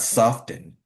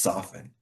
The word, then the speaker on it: soften: could be correct but when you look at the words soften, it's not soften, it's just soften.